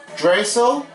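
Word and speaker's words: Draisaitl: mcdavid leon drastile tulle i'm forgot how to pronounce that it's drazel and we have darnell nurse on the edmonton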